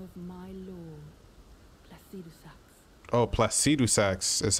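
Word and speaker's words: Placidusax: required in the name of my lordus oh plaus saxs is how you say it o ancients dragons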